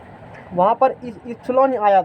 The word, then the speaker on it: epsilon: तो वहाँ पर इप्सिलॉन आया था, क्या आया था इप्सिलॉन। तो इप्सिलॉन नॉट को देख लो, यहाँ से वहाँ जब जाओगे सिग्नल दे, इप्सिलॉन नॉट को कल जो डिस्कस किए थे वो